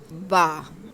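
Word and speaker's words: ب: बा का जो मखरिज है, ये होंठों के अंदर वही तर हिस्सा है। यहाँ पर हम फ़ा लेटर को प्रोनाउंस करने के लिए अपने ऊपर वाले 2 दांत टच करते थे, अब वही मखरिज है और वहीं से हमने अपने दोनों होंठों को आपस में मिलाना है, तो बा लेटर प्रोनाउंस होगा।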